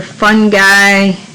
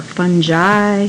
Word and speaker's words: fungi: your protists or protista your fungi or fungi however you want to say it plantae and animalia all